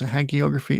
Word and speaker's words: hagiography: to know had geography well it's hagiography it's h-a-g so it could be or haggy don't know question nine what was